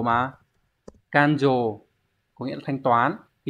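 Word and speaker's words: 勘定: Đây, chữ khám và chữ định nó đọc là dồ mà. Kanjo có nghĩa là thanh toán.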